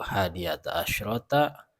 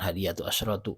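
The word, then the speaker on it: حادية عشرة: bilangan 1 2 3nya harusnya hadiata asrot hadiata asrata ya bukan hadiatu asratu hadiata asrata yang selanjutnya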